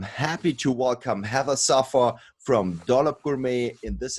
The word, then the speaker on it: Saffer: and i am happy to welcome have a sofa from dollop gourmet in this episode hello